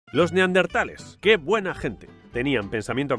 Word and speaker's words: neandertal: Recordad, no es neardental, ni neandental, es neandertal. La palabra proviene del alemán, neandertal, con H.